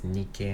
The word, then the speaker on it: Nikke: We have Nikke and Kukuri from an anime called Magic Circle Guru Guru, I think that's what it was called. And yes, this is Nikke and not Nike or Nike, however you want to pronounce it.